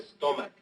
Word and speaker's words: stomach: Because the CH at the end of stomach is pronounced like a K.